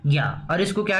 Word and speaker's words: ज्ञ: लेकिन हिंदी में जब हम हिंदी पढ़ते हैं, संस्कृत में इसका उच्चारण क्या होता है, ज्या होता है, ज और या, ज्या।